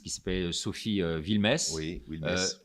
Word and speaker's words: Wilmès: Oui, Wilmès. Wilmès, pardon, je prononce à la française, qui a découvert, je